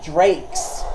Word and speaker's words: Drax: It's pronounced Drakes.